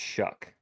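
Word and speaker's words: Shough: I don't know how you get a ck sound at the end of it.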